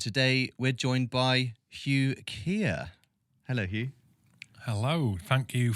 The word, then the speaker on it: Keir: and experiences and today we're joined by Hugh Kia hello Hugh hello thank you for the invite